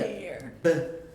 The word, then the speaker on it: bear: And it also helps if you kind of think of it, instead of spelled B-E-A-R, it helps a little bit if you think of it as like B-A-Y-E-R. Bayer.